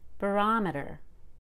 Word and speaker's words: barometer: when it's a suffix barometer you really need to go up in pitch on that o and make it a short o barometer so it is